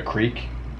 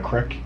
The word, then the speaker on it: creek: A creek. It's not a crick.